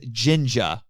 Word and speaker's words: jinja: as well shrines but the actual word in japanese for them is jinja yes i know it rhymes with ninja although i also found